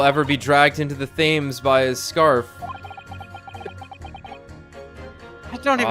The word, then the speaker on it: Thames: How do you pronounce this made-up river again? Thames? Thames. The Thames.